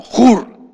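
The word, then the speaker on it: עור: despertar la palabra es se escribe una u y una r y se pronuncia algo así como jur jur Entonces cuando dice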